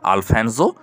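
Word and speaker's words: Alfonso: তার নাম ছিল আলফানসো টু, অর্থাৎ আলফানসো টু। কোনো কোনো বইয়ে তোমরা কিন্তু আলফানসো টুও পাবে, কারণ ইংরেজি উচ্চারণটা এস দিয়ে জ উচ্চারণ করা হয়, আবার স উচ্চারণ করা হয়।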